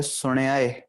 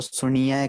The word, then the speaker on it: सुण्याय: हमारे पास शब्द आ जाता है सुण्याय, पर कई थावों पर कई जगहों पर सुनियाय कहा जाता है, ठीक है, ये भी गलत उच्चारण था, हमारे पास आ जाता है, ठीक है।